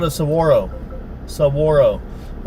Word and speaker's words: saguaro: It's called a saguaro. Sagari, but saguaro.